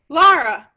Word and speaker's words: Lara: Lara, like star or far or car.